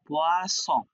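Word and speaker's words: poisson: ফিশের বানান করতে গিয়ে, এটা ছিল ফিশের বানান, উচ্চারণ পোয়াস, হ্যাঁ, তো আপনি পোয়াস বলতে গিয়ে ভুলে বলে ফেলছেন পোয়াজ, হ্যাঁ, তাহলে কি হবে?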